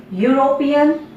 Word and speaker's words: European: European, its spelling is starting with a vowel E, but its pronunciation is starting with a consonant sound Ya.